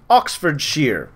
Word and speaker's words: Oxfordshire: attack in uh Oxfordshire I was apparently told that's how you should pronounce it Oxford share bam better guy uh